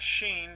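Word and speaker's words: ش: Then we have Sheen, it looks just like the Sin, but it has 3 dots on top. And that is pronounced as the SH in English, SH, and this one would be S.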